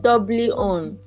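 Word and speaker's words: Dolby On: How do you pronounce it? Is it Doubly? Doubly On.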